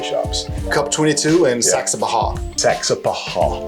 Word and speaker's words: Saxapahaw: Saxapahaw. Saxapahaw.